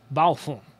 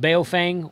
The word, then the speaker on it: Baofeng: come along and comment the correct pronunciation is balfoun that's my best that's the best chinese you're going to get out of me balfour okay in the united states they're called beofang or bofang or just chinese ht